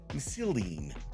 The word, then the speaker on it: Missildine: I want to give a big Recruiter Friend welcome to Cory Missildine.